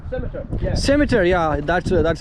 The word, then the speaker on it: Scimitar: Skimter? Scimitar. Yeah. Scimitar, yeah, that's how it's pronouncing.